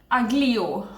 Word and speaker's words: aglio: aglio.